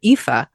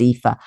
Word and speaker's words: Aoife: to tell people how easy they are to pronounce. Well, I mean, and like your main character, EE-fuh, it's like, EE-fuh.